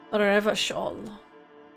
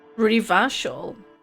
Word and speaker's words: Revachol: Revachol. Revachol. How do you pronounce that? You put the emphasis on the re.